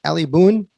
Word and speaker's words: Ali Boone: And today we have Ali Boone. Is that correct? Is that pronounced? That's it. That's it. Just like Daniel Boone.